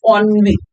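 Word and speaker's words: ennui: The pronunciation of the word is onv.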